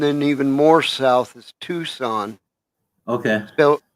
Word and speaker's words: Tucson: even more south is Tucson okay SP spelled and pronounced in Spanish tukon tu tu c s